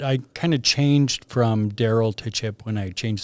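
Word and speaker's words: Dariel: can you pronounce it uh daryl but it's spelled out it's d-a-r-i-e-l so all my life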